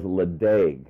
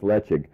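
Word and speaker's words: Ledaig: about this many people may know this as leeg l e d AIG G pronounced right but pronounced leig um and is is this gorgeous big island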